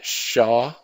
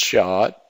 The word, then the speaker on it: SHA: uses in the background uh shaw it's pronounced shot 256.